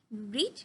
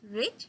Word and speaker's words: read: huge difference, not huge, there's a slight difference between the pronunciation, like read, read, read, যদিও বা আমার spelling একই হবে but we have to pronounce it in a different manner.